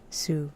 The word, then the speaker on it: Sioux: Sue, that's how you pronounce.